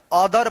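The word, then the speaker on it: other: ओ टी एच ई आर अदर पढ़ते हैं।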